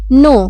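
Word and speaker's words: know: नो के एन ओ डब्ल्यू नो मतलब जानना यहां पे के साइलेंट है तो एन ओ डब्ल्यू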